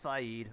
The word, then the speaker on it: Said: not going to connect to Port Said or Syed I know it's pronounced Saeed oh what is this hmm um we'll do